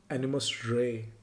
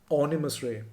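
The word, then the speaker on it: Animes Roy: When Animus Roy, Animus Ray as Onimus Ray, someone pointed out this is how it's pronounced.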